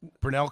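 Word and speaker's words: Grinnell: Grenell College.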